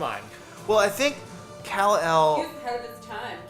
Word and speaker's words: Kal-El: Kale like the vegetable. K-L-E-L. Come on. Well, I think He Kal-El.